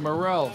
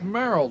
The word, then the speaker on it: Merrill: Luther's the one saying Morrell. Sorry about that. It's Merrill, Luther.